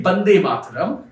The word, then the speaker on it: Vande Mataram: Is it B or is it V? Is it Vande or is it Bande? Well, it's actually Vande Mataram. But when, non-Bengali speakers say it, it becomes Vande.